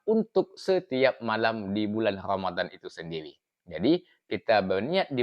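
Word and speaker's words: رمضانِ: berniat yaitu kita mengucapkan kalimat yaitu Naam bukan diucapkan Ramadana tetapi ramad kemudian bukanillahi kapa kalimatnya dibaca yaitu Ramadani karena yang pertama Memang betul bahwa kalimat Ramadana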